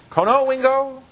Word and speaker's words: Conowingo: Where's Conowingo? Is that how you say it? Yeah. Conowingo? Mm-hmm. You play bingo in Conowingo?